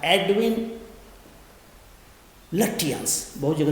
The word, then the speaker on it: Lutyens: Architecture वहाँ से बुलाया जिसका नाम था एडविन लुटियंस, बहुत जगह लुटियंस भी बोला जाता है। ठीक है बेटा, LUTYENS, स्पेलिंग लिखिए आप, एडविन EDWIN, एडविन लुटियंस।